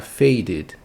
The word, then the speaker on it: faded: Aí nós acrescentamos o ED e ele também vai ficar com som de id no final, então vai ficar faded, sonzinho de id, faded.